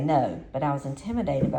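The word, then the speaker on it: Noe: introduced himself as James No, the station's president, founder, and owner. So his last name for you guys is spelled N-O-E, and remember the radio station and TV station is called K-N-O-E.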